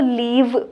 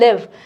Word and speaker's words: live: Let me point out a minor error: many of my students pronounce this word as 'leave.' Guys, 'l e a v means to leave, this is 'live.'